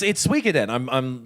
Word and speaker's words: Suikoden: It's Suikoden.